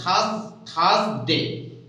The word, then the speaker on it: Thursday: Thursday, R here, R is silent, Thursday.